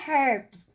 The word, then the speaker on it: herbs: I said herbs. No, herbs. That is silent H. Right, Daddy? Herbs is silent H. Herbs. Yeah, silent H.